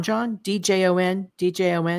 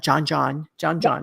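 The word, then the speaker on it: djon djon: Now, you have a dish in here called John, D-Jon, not John. Is that right?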